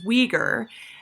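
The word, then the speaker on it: Uyghur: and religious ideas so the way you pronounce the name that begins with a U on the right side is Weger and these are Muslim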